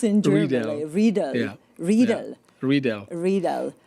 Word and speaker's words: Riedel: How do you pronounce it in German? Riedel.